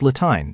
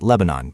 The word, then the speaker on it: Latine: It's Latine, not Lebanon, but feel free to call me whatever you like.